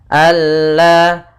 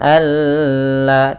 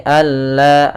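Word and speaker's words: أَلَّا: Kamil idgham yang sempurna idgham Kamil yaitu nunnya hilang langsung kepada huruf lam sehingga tidak ada lagi terdana huruf nunnya Alla Alla langsung tapi jangan ditahan juga jangan Alla tidak tapi Alla langsung pada lafal la sendiri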